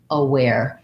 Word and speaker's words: aware: clothes that we wear and because it has first syllable stress i mean second syllable stress the uh the letter a is a schwa so it should sound like aware and what i often